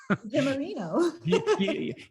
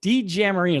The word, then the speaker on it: DiGiammarino: Jamarino. D Jamarino is like D and then jam, like peanut butter and jelly, and then Marino.